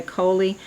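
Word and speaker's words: Coeli: mc or medium charlie i think it's pronounced charlie some people say coley that's in capricorn and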